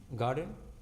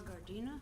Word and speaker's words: Gardina: Garden. Did I pronounce the name right? G A R D I N. My name is Gardina.